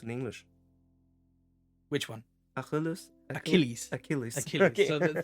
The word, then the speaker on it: Achilles: only Aus for um what how is it pronounced in English which one a achilles Achilles ailles so the C is a hard